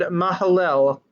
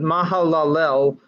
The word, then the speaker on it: Mahalalel: seventy years he fathered Mahalo Mahalo wait ma Hallel I missed a syllable Kenan that lived after he fathered Mahalalel eight hundred forty years